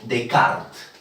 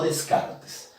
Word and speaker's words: Descartes: Estamos hablando del dualista, porque se le considera así a esta propuesta dualista del señor René Decart, no Descartes, se pronuncia Decart y aparezco Holly, no, no es Descartes, es Decart, René Decart.